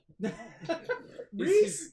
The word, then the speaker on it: Rhys: we got See what the Reese. Riss is cooking. Think Reese's Pieces. Reese. Sorry, it was how you spelled it. You spelled it RHYS. But Yeah, that's how it's it is supposed to be pronounced said.